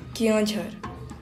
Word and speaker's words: Keonjhar: The local pronounced the name as Keonjhar.